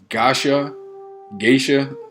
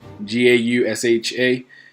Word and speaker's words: Gausha: Terrell Geisha, sorry for mispronouncing the last name, Gausha, a 2012 Olympian and undefeated junior middleweight, will also be in attendance, or in action rather.